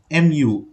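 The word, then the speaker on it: μ: middle one is given this symbol is Mu mu okay but it's pronounced as Mu it's a Greek alphabet even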